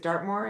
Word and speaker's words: Dartmoor: younger women like there's in Dart is it Dartmoor, is that how you say it?